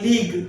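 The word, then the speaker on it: league: कौन से वर्ड है लीग लीग होते है लीग में एल इ ए जी यू ई लीग लीग यहां पर साइलेंट हो गया टंग जीभ टंग बोलते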